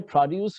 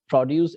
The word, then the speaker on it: produce: Here, produce means the you putting on the accent on the first syllable, not on syllables, on the second one, right? The moment you see produce, then it will be a verb, like they are producing much electrical vehicle, or they are producing more vehicles than earlier. So producing, you're putting an accent on the second syllable, right?